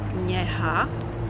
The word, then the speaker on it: něha: because it's very similar to the word, to the sound in the word new in English. So it shouldn't be a problem for you guys. And it's basically something like NY when you're trying to imagine how it's supposed to sound, but it shouldn't be a big deal.